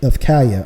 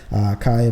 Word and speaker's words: Kaiya: There's 2 photos on the website of Kaya. I'm sorry. It's probably pronounced Kaya, spelled Kaiya, Kaya Gosley.